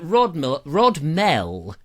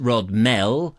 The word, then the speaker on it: Rodmell: So I was out at Rodmell. Apparently it's not pronounced Rodmell. I believe it's Rodmell, but I may be wrong.